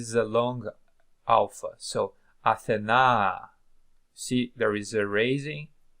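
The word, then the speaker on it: Ἀθηνᾶ: In Attic Greek, it was pronounced, it seems, as Athena. Athena.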